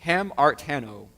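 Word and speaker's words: ἁμαρτάνω: The word sin here is, in the Greek, is called, how you say it, hamartano.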